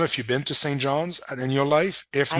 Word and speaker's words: St. John's: but there's Saint John, and there's Saint John's. I've been educated, and because I was saying Saint John, Newfoundland, and I've been educated that apostrophe S is very important.